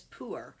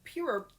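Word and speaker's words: pu-erh: for um intermittent fasting is poor or it is spelled p u dash e r and then sometimes there is an h in there so pure is a t that is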